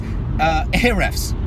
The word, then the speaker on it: Ahrefs: I'm hoping I pronounce this right. It's Ahrefs, right?